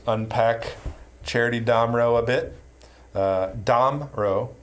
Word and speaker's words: Damrau: Damrau, the pronunciation, the emphasis is on the first syllable.